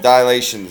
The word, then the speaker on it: dilations: do this is called dilations okay it's pronounced dial eight and I know it